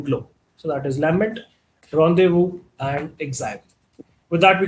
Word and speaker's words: rendezvous: This is not pronounced as rendezvous. It is pronounced as rendezvous and basically means two people meeting at a agreed time and place.